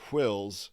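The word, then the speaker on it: Whills: ever by the way i pronounced wills with an h because there's an h in wills wow yeah makes it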